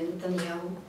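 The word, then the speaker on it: נתניהו: теперішнього прем'єра Славутого Біві Нетаньяху, все будуть і казати, і писати Яху на кінці. А послухайте канал RTVI, израильский, там вы николи не почуете это аху. Там гу. И пишется, и вымовляется, выключно Нетаньяху.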